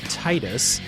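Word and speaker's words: Tidus: the player protagonist uh Canon name is tetus uh I always pronounced it Titus uh cuz of the water uh theming of the game it makes so much sense it makes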